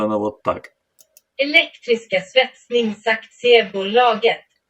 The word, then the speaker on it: Elektriska svetsningsaktiebolaget: Произносится она вот так. Elektriska svetsningsaktiebolaget.